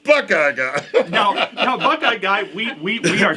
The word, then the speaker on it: Buck I Guy: It's I spelled like it. Buckeye Guy, but it's pronounced Buckeye Guy.